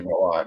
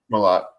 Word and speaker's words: Milot: year, and Tommy Milot, everyone say Milot, right? Am I saying it right? Milot. It's just like we have a friend who bowls on the Professor and Bowler story, West Milot.